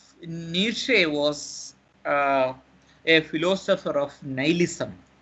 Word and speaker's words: nihilism: So that means Nietzsche was a philosopher of nihilism. Nihilism, N-I-H-I-L-I-S-M. Nihilism. The pronunciation is nihilism, not nihilism. Nihilism, N-I-H-I-L-I-S-M.